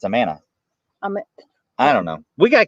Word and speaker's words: Amana: how does that work it's a mana don't say amana i'm anna remember mr